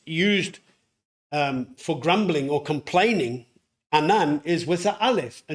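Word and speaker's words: אנן: Now, in Hebrew, there is another phonetically similar sounding word to the Hebrew word for cloud, anan, which is anan.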